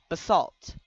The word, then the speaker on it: basalt: in last episode but this is actually pronounced basalt where should I put this